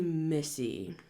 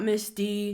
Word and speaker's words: Missy: So, I figured that I would take the time to say my name is actually Missy. Not Misty, not Mindy. What's the one I get on Instagram? Not messy.